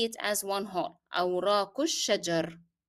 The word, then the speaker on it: الشجر: Why didn't I pronounce the kesra in ra? That is because here I stopped, my breath is out. So once I stop, I would drop the pronunciation of kesra. However, if you take a long breath and you can carry on till the end of the sentence, then you can pronounce kesra.